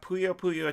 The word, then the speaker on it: Puyo Puyo: We also have Puyo Puyo Champions, that's how you pronounce that, Keith, on PC, PS4, Xbox One, and Switch.